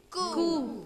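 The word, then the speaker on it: coup: What is the pronunciation? Tomb. Tomb. C-O-U-P. Coo. Coo. Coo. It is not coop, but it is?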